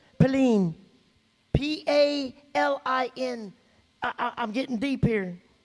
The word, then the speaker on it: palin: And it pronounces palin.